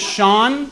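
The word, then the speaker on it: Sean: My middle name is Shawn, but it's spelled Seen, so that's lame.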